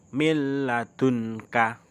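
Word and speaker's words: من لدنك: Tulisannya min ladunka, tapi bacanya karena ini idgham bila gunnah dimasukkan tanpa mendengung. Mil ladunka, bukan min tapi mil ladunka.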